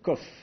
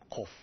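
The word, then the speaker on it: קוף: emphatique donc ilut pareil il faut la prononcer en arrière dans la bouche alors que le CAF se prononce plus sur le devant de la de la bouche comme ça CAF KOF voyez la différence le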